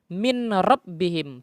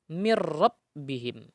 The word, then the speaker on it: min rabbihim: Nah, jadi cara membacanya tidak boleh min rabbihim, tidak boleh. Tapi langsung dimasukkan nun mati kepada huruf berikutnya, yaitu huruf ro. Mir rabbihim.